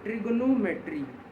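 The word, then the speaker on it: trigonometry: letters in a word ट्रिग्नोमेट्री ट्रिग्नोमेट्री ठीक है बचपन में इसको नाइंथ में ट्रिगोनो की जगह ट्रिगोनोमेट्री पढ़ते हैं ताकि इसका नाम याद र ट्रिगोनोमेट्री बीच में ओ साइलेंट होता है इसमें कितने लेटर्स हैय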